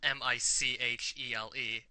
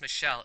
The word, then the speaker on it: Michele: His name is spelled Michele, M-I-C-H-E-L-E, except it's not even pronounced Michele, it's pronounced Michele. It's an Italian male name.